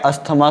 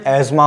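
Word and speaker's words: asthma: आपने अस्थमा सुना होगा, उसका प्रोनाउंसिएशन एज़मा होता है।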